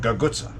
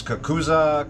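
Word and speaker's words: cucuzza: I like to use the pronunciation gagutsa. Some people gaguts, others kakuza, kakuzi, bottleneck gourd, bottleneck squash.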